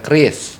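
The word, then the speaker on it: QRIS: pertama adalah Kris tulis ditulisnya qrs tapi dibacanya Kris kepanjangannya bantu Pak kepanjangannya dari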